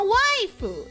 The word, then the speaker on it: waifu: A waifu is a mispronunciation of the word wife. That is how you would pronounce wife if you were to read it in Romaji Japanese.